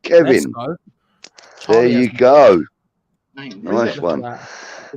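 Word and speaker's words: Caoimhín: It is pronounced Kevin.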